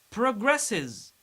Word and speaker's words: progresses: Progresses. Progresses. We pronounce final S is because it's preceded by S.